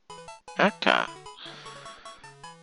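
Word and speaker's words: 赤: Aka? Aka? How do you say that? Aka.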